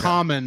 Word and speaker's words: Kamen: Common, but yes. it's pronounced common.